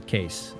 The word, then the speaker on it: Kees: together and Americanized uh Jan and case uh because that's how it's spelled that's how both those names are spelled uh apart from each other just yawn case but it's with the